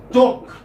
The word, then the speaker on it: talk: For instance, talk. L is silent.